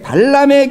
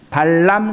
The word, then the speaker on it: 발람: 여러분 민수기를 보시면 하나님의 선지자가 나오는데 그 선지자 이름이 발람 선지자입니다. 발람하고 발락이 발음이 비슷하기 때문에 잘 들으셔야 돼요.